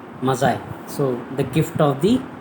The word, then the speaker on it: Magi: Many people may feel that it is Maggie, but the exact pronunciation of this word is Mazai.